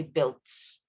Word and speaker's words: builds: The U is silenced, so you don't actually say the U part. It's only builds without the U.